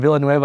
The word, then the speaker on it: Villanueva: And Villanueva, actually, is that how you say it?